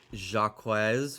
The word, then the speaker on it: Jaquez: Jaquez rhymes with shock. Seems like you're interested in spooky trick lamp. Let's see. Wow, that's really expensive. Jimmy, read what I wrote. It's a French name like Zahak.